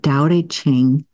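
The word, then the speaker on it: Tao Te Ching: I think it's called I think you pronounce it Dow A ching written by latu I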